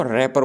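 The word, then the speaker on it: wrapper: कागज होता है उसको रैपर बोलते हैं यहां पे जिसको स्पेलिंग लिखी हुई है रैपर की स्पेलिंग में व होता है लेकिन यह बोला इसको रिप्रेस जाता है तो यह रही रैपर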